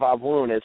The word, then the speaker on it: Avun: Well, the sound at the end of Avun it's like O-O-N or O-U-N, un, and what that means is all of you or all of us.